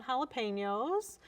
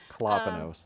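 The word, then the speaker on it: jalapeños: And last couple years I've actually cut back on jalapenños. Colopinos is actually how you say it.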